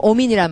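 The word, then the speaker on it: omen: 대표적으로 오민이란 말이죠. 오민. O-M-E-N. 참 오민이란 말 재밌네. Amen에서 스펠링 하나 조금만 바꾸면 오민이 되네.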